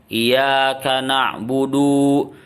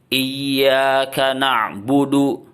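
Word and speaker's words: إِيَّاكَ نَعْبُدُ: Nah, masih ada orang yang salah bacanya seperti ini, yang salah. Iyyaka na'budu. Jadi iyanya kurang ditekan, na'budunya malah panjang. Ya, yang betul itu adalah iyanya itu bertasdid. Iyyaka na'budu. Kemudian du-nya pendek, ya.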